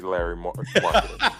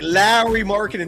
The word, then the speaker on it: Lauri Markkanen: I'm 150% sure it won't be Larry Markkanen. Mike Lowry. Mike Lowry. Mike Lowry. I'm Mike Lowry. Lauri Markkanen. That's how you actually pronounce Lauri Markkanen's name.